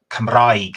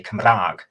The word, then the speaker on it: Cymraeg: And where I'm from, you don't pronounce the word E, so Cymraeg is what the Welsh word for Welsh is, but where I'm from, you say Cymraeg.